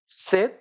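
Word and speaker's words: sept: 7 এটার প্রোনাউন্সিয়েশন হলো সেত।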